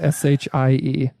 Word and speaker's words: Shie: Joe, how do you pronounce that? S-H-I-E. In Japanese. Shie.